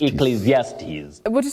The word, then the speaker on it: Ecclesiastes: but this one you say e then zes Ecclesiastes Ecclesiastes can you try it even B is here laughing at me V you want to try it e EAS you say eastes eclesiastes Ecclesiastes can you try that Ecclesiastes yes that's that